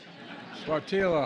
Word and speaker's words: Sáttítla: I mispronounced it the first time. Sáttítla Highlands in Northern California.